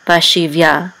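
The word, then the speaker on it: bashivya: With a vet, it says shiv. This is going to be silent, and then this is a yud with a kamatz, which says ya, and the hey is silent. So ba shiv ya.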